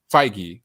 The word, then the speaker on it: Feige: say his last name is it kevin feige feige okay if yeah if you don't have like